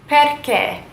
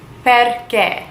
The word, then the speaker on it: perché: Perché. Why? Perché. With a little accent on the E. Perché. Why? Perché.